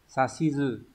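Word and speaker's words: 指図: Thế nhưng mà người ta vẫn hỏi bởi vì là cái từ này nó sẽ đọc đặc biệt. Từ này chúng ta sẽ đọc là gì nhỉ? À, chúng ta sẽ đọc là sashizu.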